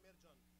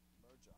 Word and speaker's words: Merjan: The Armenian is Merjan. Merjan. Yeah. But in English, American, and French, Mehkan, whatever. Anything goes.